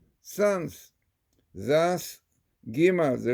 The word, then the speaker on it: Gimel: The first letter Gimal, which is pronounced Gimel, brings to mind the word Gomel.